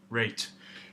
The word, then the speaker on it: REIT: to pronounce it so this is how you pronounce reach reach reach they go rate so rate I just thought that was funny